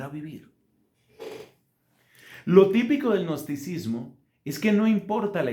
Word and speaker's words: gnosticismo: Un segundo error que tiene que ver con el dogma es el gnosticismo, que se escribe con una G inicial, gnosticismo, como si uno dijera.